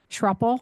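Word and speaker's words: Schroeppel: Trupel, and I'll spell that S C H R O E P as in Paul Eel.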